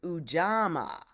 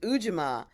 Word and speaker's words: Ujima: the third principle is uama amaama yes uh we pronounce it ujima but but we sing it uama the third uh the